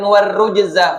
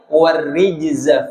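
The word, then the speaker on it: وَالرُّجْزَ: Dalam tafsir Al-Qurtubi kalimat warrujza di riwayat yang lain dibacanya dengan kasroh, bukan warrujza fahjur tapi warrijza fahjur.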